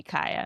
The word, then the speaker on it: Kaya: And they explained that yeah, technically the pronunciation of my name is supposed to be Kaya. So you can imagine my head I'm like, why would you wait 30 years to tell me that?